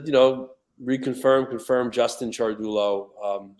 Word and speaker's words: Ciardullo: uh just to you know reconfirm confirm Justin chargullo um it's usually mispronounced a lot um a lot of people